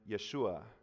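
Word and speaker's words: ישוע: more like yahoshua yahoshua or the shortened version Yeshua which which means Yahweh is salvation and Yahweh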